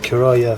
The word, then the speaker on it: Currah: time Khurram micro speech you pronounce it Cariah thank you Paul is